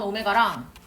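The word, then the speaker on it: ω: 약간 W 같이 보이지만 W 아니에요. 걔는 오메가라고 읽어요.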